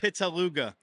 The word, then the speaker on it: Pittaluga: Am I saying that right? Way off. What? Way off. What is it? Pittaluga. Pittaluga. Pittaluga. I think I like my pronunciation better. I mean, that's the common pronunciation of it. So I'm sorry. no, back in school, anytime someone sees it for the first time, that's you're spot on of what it looks like, but Okay. it's not how it's pronounced.